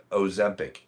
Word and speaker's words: Ozempic: I can never pronounce it. Yeah. It's called it's called um yeah, Ozem- Ozempic o z e m p i c.